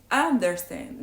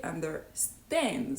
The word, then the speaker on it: understand: They don't say understand. They say understand. So they stress the last syllable.